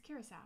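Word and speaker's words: Curaçao: okay I'm looking up how to pronounce it Kuro how did you say it here's how oh wow it's Curacao what's croco then cracker or Caracas Venezuela Morocco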